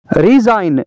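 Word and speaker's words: resign: का जी साइलेंट है रिजाइन रिजाइन का मतलब है इस्तीफा देना रिजाइन का जी साइलेंट है डिजाइन डिजाइन का मतलब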